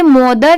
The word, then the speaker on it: mother: हैं क्योंकि THER है, बट यहाँ पर MO है तो इसे मोदर नहीं पढ़ेंगे। यहाँ पर इसकी प्रोनाउंसिएशन क्या है? मदर, मतलब सिर्फ म की साउंड आ रही है। ठीक है, तो यहाँ पर ये जो O लेटर है ये साइलेंट है, यहाँ पर O को ऐड नहीं किया जा रहा है, बस इसे लिखते टाइम लिखा जाता है, बाकी पढ़ते टाइम सिर्फ मदर।